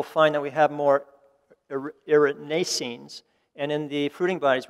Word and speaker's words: erinacines: And I'm going to use Dr. Jim Duke's pronunciation here of these compounds because I always like his second syllable emphasis. But hericenones and erinacines as well.